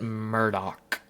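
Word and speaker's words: Murdaugh: Um, but in the show they pronounce it Murdoch, like Murdoch with like CK kind of at the end.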